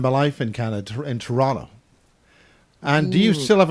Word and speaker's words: Toronto: i i lived in toronto more accurately said torana t-a-r-a-a-n-n-n-a toronto turana well i'm on